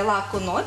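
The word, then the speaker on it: laku noć: Я не маю одне зауваження, от коли в слові виразі «лаку ноч», що означає «на добраніч», ми використовуємо м'яке «чи».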